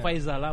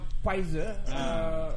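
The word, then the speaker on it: Pfizer: sampai adalah viser bukan faizalah bukan Faizal balikbalik Faizal kas betulah sebutannya pizer silent P lah silent pnya pizer tidak perlulah Siapa nama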